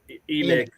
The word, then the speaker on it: Enoch: you're not you're not oh it is enoch my bad e nick huh god dang man i'm right about something i was going from the biblical sense i guess or maybe